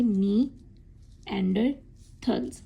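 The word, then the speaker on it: Neanderthals: इसको आप कैसे करेंगे? नी एंडर थल्ल्स। ऐसे आप प्रोनाउंस करेंगे।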